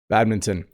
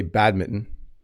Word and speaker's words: badminton: Badminton. So if you say this word quickly, you don't really hear the N. Some people say badmitten, but I say badminton.